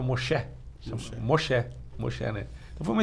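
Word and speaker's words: משה: converteu né nome dele é a Moisés se pronunciava Malcher Moxé Moxé né eu vou uma experiência muito legal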